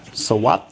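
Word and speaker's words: สวัส: But when you hear sawat, you can hear that it's an S at the front and a T at the end.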